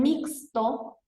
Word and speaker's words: mixto: En mixto tenemos mi sería como mixto, en segunda. Fíjense que acá, el mismo caso que decíamos hoy, acá se escribe con X, pero suena como S.